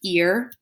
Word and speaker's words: ir: start with the verb ear it is pronounced ear like the ear on your head but it is spelled IR so the verb ear